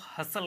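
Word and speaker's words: hustle: ऑफ पढ़ेंगे इसको लेकिन हस्त नहीं पढ़ेंगे क्योंकि गलत हो जाएगा ये इसको हसल कहेंगे केवल हसल ठीक है हसल कहेंगे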